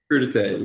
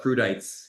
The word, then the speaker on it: crudité: Crudité, yeah. Or I jokingly call it crudites because it's spelled like that.